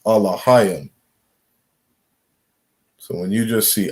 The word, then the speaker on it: Elohim: How they would say it in the Assyrian, or what we call today the Yiddish, is El, right? Khan. They would say El Ohim, right? We understand the correct pronunciation is Alahayim.